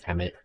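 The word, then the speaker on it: HEMTT: m977 oshkosh and uh i think you pronounce it emmet but it's h-e-m-t-t it stands for something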